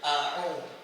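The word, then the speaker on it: أعوذ: Yang pertama adalah a hamzah ngih bukan ain. Yang kedua ain au.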